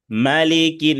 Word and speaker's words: ملك: মালিকিন, এখানে আবার ওই যে আমরা সূরা ফাতিহায় পড়ি মালিক ইয়াউমিদ্দিন, এখানে ওখানে সূরা ফাতিহায় খাড়া জবর আছে, কিন্তু এখানে কোনো খাড়া জবর নাই। এখানে নর্মাল হরকত আছে, হরকতের উচ্চারণ তাড়াতাড়ি, জবর আছে।